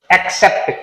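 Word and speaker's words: accept: पहला है एक्सेप्ट, इसको प्रोनाउंस करते हैं तो पहला सी जाता है के की तरह, अगला सी जाता है स की तरह।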